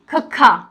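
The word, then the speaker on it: ਖ਼: तो अब हम इनका भी प्रोनाउंसिएशन देख लेते हैं। देखिए शस्सा, SHA, शस्सा, यानी पंजाबी में शस्य पैर बिंदी, शस्सा। खखा, KHA, खखा, ओके, खखा।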